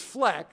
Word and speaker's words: FLEC: it the answer was flecked which I just told you it should have been rhymes with Shrek and speck and the answer is Fleck which is the financial